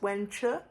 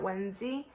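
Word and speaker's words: Wenzhi: I was pronouncing Wen Chu as Wen Zi, so I'm sorry for that. Again, that's Wen Chu, not Wen Zi.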